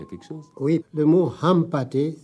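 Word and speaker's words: Hampâté: chose oui le mot Hampaté si on ne le prononce pas le N perce son sens Ham c'est un des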